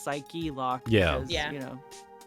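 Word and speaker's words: Psyche-Lock: Yeah, I think the joke is that I guess it is supposed to be pronounced psyche lock.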